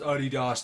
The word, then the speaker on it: Adidas: I know it's pronounced Adidas, Dan.